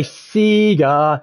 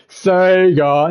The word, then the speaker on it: Sega: I say Sega. They go Sega. Sega, man.